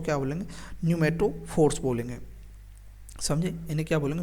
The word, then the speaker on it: न्यूमेटोफोर्स: तो रेस्पायरेशन के लिए जो रूट्स मॉडिफाइड होते हैं उनका नाम क्या है, न्यूमेटोफोर्स है। पी इसमें साइलेंट है, न्यूमेटोफोर्स बोलते हैं उन्हें।